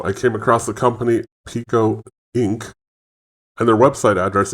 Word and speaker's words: Peco: found this interview by cnn business of actual pico and i am pronouncing it right and i'll show you right